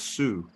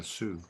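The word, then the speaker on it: Sioux: gravestone and it's um a how do you pronounce s i o u x Su s i yes Sue s i o u x yeah Sue Sue Chief named um walking bear and I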